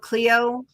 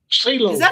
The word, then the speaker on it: Celo: Folks up around Cleo or Celo? How do you say that? Celo? Celo.